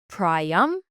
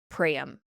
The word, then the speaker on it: Priam: Some sources say Priam, some say Priam. So I'm just going to keep saying Priam, okay?